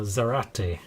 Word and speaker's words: Zarate: of my last name it's karate karate but with a z so zarate instead of okay that's difficult they're